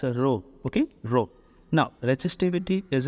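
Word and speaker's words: rho: to this is spelled this is pronounced as row okay row now resistiv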